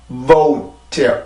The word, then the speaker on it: boat: 보트 보트라고 쓰기는 하는데 지금 여기 있는 오 발음은요 한국어에만 존재하는 겁니다. 영어를 쓸 때는 영어에서는 절대 오라는 발음이 없어요. 오는 없고 항상 오우라는 발음으로 되죠. 그래서 발음을 써보면 이게 그냥 보트가 아니라 boat예요. 오 이렇게 이중모음의 소리인데 한국어에는 오라고 쓰는 게